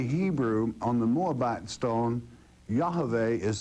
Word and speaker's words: Yahweh: that in the Hebrew on the moabite stone Yahweh is spelled correctly y-a-h-v-e-h Yahweh and it is amazing